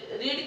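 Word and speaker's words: read: तो past indefinite में हम लोग जानते हैं कि क्या होता है, रीड की सेकंड फॉर्म लगाते हैं तो रीड की हो जाएगी रेड, लेकिन स्पेलिंग हमारी रीड ही रहती है, रीड रेड रेड।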